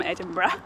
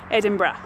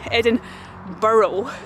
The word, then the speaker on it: Edinburgh: people and they say Edinburgh, but it's definitely not Edinburgh. Do not say that, absolutely not. And it is not Edinburgh, which is like a rabbit burrow, definitely not that.